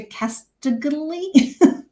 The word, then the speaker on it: Castagli: It's Italian, Major Castagli. Castagli?